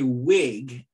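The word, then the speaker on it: Whig: dead elected in congress as a wig in 1846 that's spelled w-h-i-g this political party that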